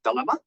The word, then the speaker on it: DeLLMa: DeLLMa for a lot of times, but it's pronounced as DeLLMa.